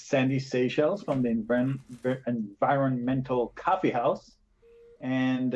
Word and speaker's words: Seychelles: Oh, I'm Shellis, not Shellis. Seychelles.